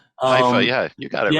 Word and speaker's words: Haifa: I always pronounce them wrong, but Haifa. Haifa, yeah, you got it right.